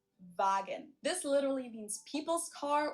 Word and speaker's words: Volkswagen: be pronounced and not Volkswagen. So just imagine that it was spelled with an F and V instead. Fagen.